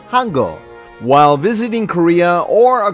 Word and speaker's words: Hangul: The first block makes the sounds h, a, and n, forming the syllable Han, which in the Korean language means great. Now let's put together its second half with g, e, o to say geul, which translates as script.